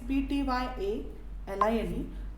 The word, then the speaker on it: ptyalin: The spelling is P-T-Y-A-L-I-N-E, but the pronunciation is the ptyalin.